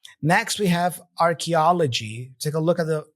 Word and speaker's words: archaeology: right next we have archaeology take a look at the IPA symbols here Arch G archaeology and the stress is right here in the middle archa archa archaeology archaeology all right so here is the